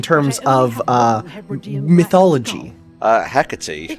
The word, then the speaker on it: Hecate: of uh mythology uh hecatee I believe there's different pronunciation but it is the goddess of witches when my single-handedly took